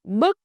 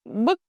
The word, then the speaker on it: bức: Rounded for u, flat for ư. That's the key to perfect pronunciation. Now let's put those vowels into real sentence. Repeat after me, slowly and clearly. Chú Tú viết bức thư cho cô Thu.